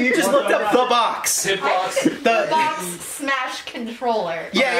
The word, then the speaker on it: B0XX: finishes it and releases it in 2017, and it's called The Box.